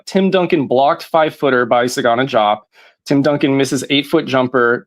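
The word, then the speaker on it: Desagana Diop: real quick is um I don't understand why his name was pronounced the way it was, but Sagana Jop. I took four years of French and I can't explain to you why we don't pronounce the D and Desagana drop.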